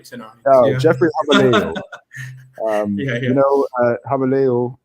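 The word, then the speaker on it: Gouweleeuw: Habaleo is how it's pronounced, and that is Dutch for the Golden Lion.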